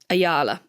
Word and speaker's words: Ayala: Ayala. Oh, yeah. That one. You're much better at this pronunciation.